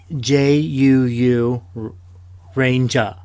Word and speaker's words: Zyuranger: it for me again Ranger so so it's pronounced like like j-u-u Ranger okay it's it's spelled z y u r